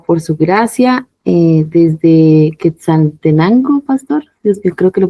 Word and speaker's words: Quetzaltenango: Y sí, lo pronunciaste bien, que saltenango. Está bien, está bien dicho.